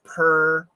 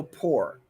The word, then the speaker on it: poor: poor and poor but poor has two pronunciations so the first one per and also poor you will hear people's